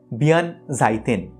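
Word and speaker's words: 弁財天: তার নাম বিয়ান সাইতিয়ান আবার জাপানে এই উচ্চারণটা একটু বদলে হয় বিয়ান জাইতেন জাপানে সরস্বতী শুধুমাত্র কিন্তু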